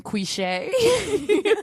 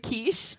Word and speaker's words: quiche: that john morgan uh ordering cliche what instead of quiche oh no oh no